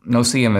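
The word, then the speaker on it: no-see-um: argument that is called the no cm argument no cm is spelled n-o-s-e-e-u-m the no cm argument it's kind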